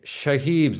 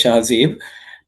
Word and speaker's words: Shahzeeb: Shahibs, did I pronounce you correctly? No, it's pronounced as Shahzeeb.